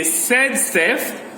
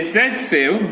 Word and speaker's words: Zaitsev: So in 1875, scientist zaitsev, the Russian scientist, some say zaitsev, some say zaitsev. Both pronunciations are correct.